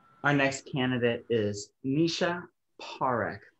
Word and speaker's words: Parekh: Our next candidate is Nisha Parekh. Please excuse if I butchered your last name, Nisha. Actually, you pronounced it perfectly.